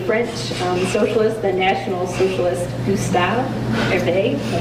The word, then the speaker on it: Gustave Hervé: It's on the French socialist, the National Socialist Gustave Hervé. Am I pronouncing that correctly?